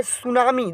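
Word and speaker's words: tsunami: तरफ अब जरा देखिएगा अब बोल रहा है सुनामी देखिए यहां पर कोरबा चाहिए यह सुनामी है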